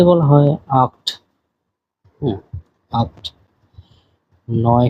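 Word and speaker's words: acht: বলা হয় জিভেন জিভেন আট কে বলা হয় আক্ট আক্ট নয় কে বলা হয় নয়েন এবং টেন কে বলা হয় সেন আপনারা এই উচ্চারণ গুলি সহ দেখবেন আমি আবারো শুরু থেকে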